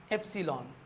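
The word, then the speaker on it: epsilon: मिळेल double L असेल तर ठीक आहे पण एप्सिलॉन समजलं का याला अस प्रोनान्स केलं जात आणि एप्सिलॉन आणि हा नड एप्सिलॉन न ठीक ना मग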